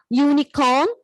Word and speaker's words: unicorn: Those words are, the word may begin with a vowel letter U, but it may have a consonant sound of YU. Those words are unicorn, useful, utensils, all these other words.